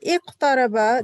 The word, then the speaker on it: اقترب: Ustad, iqtaraba, the qaf is heavy, but the ta stays as ta.